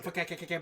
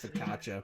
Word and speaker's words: focaccia: Some fakakaka bread. Focaccia bread. What you say? Delicious. Not where I work. I know it's pronounced focaccia, but I like saying fakakaka bread.